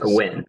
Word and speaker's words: Nguyen: Nguyen, yeah.